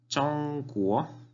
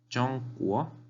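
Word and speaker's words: 中国: China, en chino se dice Zhongguo, Zhongguo, Zhongguo, China. Zhongguo, primer tono, Zhong, segundo carácter, tiene el tono hacia arriba, Guo.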